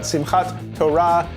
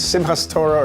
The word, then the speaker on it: Simhat Torah: Greetings, hero design, your friendly neighborhood rabbi, and I'm here today to talk to you about Simhat Torah, pronounced in other communities as Simhat Torah or Simhat Torah.